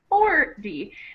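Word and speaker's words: forty: So it sounds more like 40. And that T, even though it's a T, it really is pronounced like a D.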